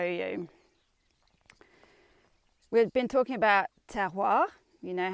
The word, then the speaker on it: terroir: We've been talking about terroir. You know how to pronounce terroir, like terre, a bit of paper, and oir, terroir.